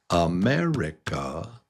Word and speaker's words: America: It's America. America. America. What is the strong beat? Is it America, or is it America, or is it America, or is it America? It's America. It's mare. America. Number 2, America.